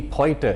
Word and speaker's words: Poitier: a forceful counter-terrorist operation sidney poitier more commonly pronounced sydney poiter here in sri lanka the first man